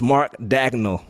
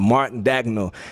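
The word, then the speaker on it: Mark Daigneault: It's Mark Dagnall. You didn't get the pronunciation on that. Mark Dagnall.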